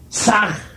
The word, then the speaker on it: Sah: Ham escribe con las letras H-A-M. Saj se escribe con las letras S-A-H. La H suena siempre como J.